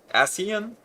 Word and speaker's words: Ascian: They're supposed to go, like, I thought I was mispronouncing because I'm like, Ascian? And then it turns out it is correct.